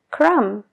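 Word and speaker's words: crumb: existiera plum plumber y crum DEA crum la regla general Es que la B no se pronuncia antes de una t o después de una m pero como casi todo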